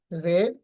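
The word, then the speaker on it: read: তো আই রেড a book study. এখানে একটা জিনিস মনে রাখবেন। রিড এর ভিট রূপের উচ্চারণ রেড হয়।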